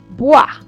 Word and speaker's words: bois: Then we have o and e. That to be pronounced like wa in water, which will give bois, wood.